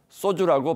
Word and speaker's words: 소주: 주선 200의 경지에 닿지 못하는 소시민들이 홀로 기울이는 그 소주는 된 소리로 소주라고 발음해야 제격입니다.